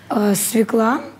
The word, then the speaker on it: свёкла: Свекла, ударение на «а».